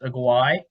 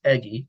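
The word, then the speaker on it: Eguy: i've heard it pronounced agaway but i've heard it mostly pronounced eggy which i think is cool i mean it's e-u-e-g-u-y not e-g-g-y but eggy rosario he's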